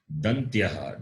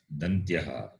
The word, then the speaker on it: Dantyaha: The word for dental is in Sanskritam Dantyaha. D-A-N-T-Y-A-H. Dantyaha. D-A-N-T-Y. Dantya. A-H. Dantyaha. So it is pronounced by the tongue touching the base of the upper teeth.